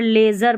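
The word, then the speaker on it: leisure: ये देखिए ए की जैसे ई आई का, यहाँ पर लेज़र पढ़ेंगे, यहाँ पर ए साउंड है इसका।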